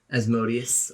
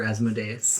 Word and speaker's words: Asmodeus: capitol building you spot as modius or asmodeus whichever you prefer to pronounce it as uh he waves to